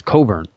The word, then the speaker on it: Cockburn: I'm sorry, it's not Cockburn, it's Coburn. I always pronounce that wrong.